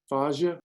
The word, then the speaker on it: fascia: way uh zero zero I've never learned to pronounce that word fazia is that it fascia zero fascia we did look that up Shauna and uh you're right it was were uh and